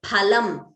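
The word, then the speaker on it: फलम्: For example, phalam, pha, mahaprana, means fruit, whereas palam, alpaprana, means meat. Now, I already told you, pha, please note the pronunciation, it is phalam, it is not phalam.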